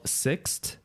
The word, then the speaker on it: Sixt: For renting a car, or you can use what we used, which was called Sixt, like the number 6, but with a T at the end. And yeah, we use Sixt.